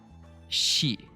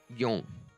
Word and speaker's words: 四: Shi.